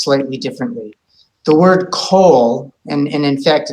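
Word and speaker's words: כל: of those situations where the Comets actually has an o sound um and rather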